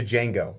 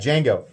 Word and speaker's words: Django: will Absolut I think I've been saying Django it's D Jango and I know that people are going to have corrected my pronunciation and not bothered to finish the video that's fine my bad Jango um I'll link everything